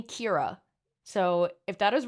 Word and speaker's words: Ciara: A friendly Irish man on YouTube told me Kira.